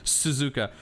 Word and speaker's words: Suzuka: we're going to suzuka oh suzuka sorry gotta pronounce it correctly suzuka so from the third sector being the s's